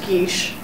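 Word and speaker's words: geis: happy so happy uh it's spelt gays g-e-i-s oh it's basically a magical taboo i've never heard that pronounced i've only read it oh yeah and most people yeah i'm pretty sure it's pronounced geesh if i remember from my celtic studies classes correctly i might be wrong correct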